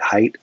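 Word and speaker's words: Haidt: righteous mind by jonathan hate height i never know how to say his name i have a hard time calling him jonathan hate because it just sounds too hateful h-a-i-d-t but the righteous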